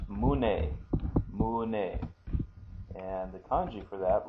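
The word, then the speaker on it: 胸: to look at the chest the chest is pronounced mun mun and the coni for that looks like this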